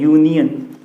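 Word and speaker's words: union: शुरू हो रहा है, लेकिन जब इसका प्रोनाउंसिएशन करते हैं तो क्या बनता है, यूनियन।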